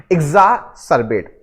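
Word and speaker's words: exacerbate: को मैंने बताया है ये जो लिखा है लिखा क्या है एक्स लेकिन इसको प्रोनाउंस किया जाएगा इग तो क्या प्रोनाउंस करोगे इजा सर्वेट अब इसको याद कैसे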